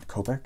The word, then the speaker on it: Kopech: I can't pronounce his name. Kopech? I think that was it. Yeah, I think that was right.